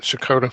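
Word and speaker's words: Checotah: Chakota? You got it, Shakota.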